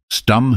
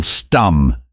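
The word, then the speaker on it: Stumm: grin why its Colonel stum he cried he pronounced it like the first syllable in stomach very pleased to meet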